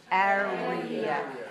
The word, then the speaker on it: area: So 2 dots means? 2 dots means 3 syllables. Right. Okay, so if we look on the syllable stress of our dictionary here, area is stressed on the first syllable. So we say 3-1.